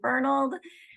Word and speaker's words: Fernald: make that clear that it is Dr fold thank you so much for your time and